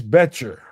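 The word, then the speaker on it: Boettcher: This is linebacker Bryce Betcher. The O is silent.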